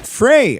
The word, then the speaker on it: Frey: Frey rhymes with gay.